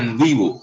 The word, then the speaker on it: NVivo: Uno se llama NVivo, se pronuncia NVivo.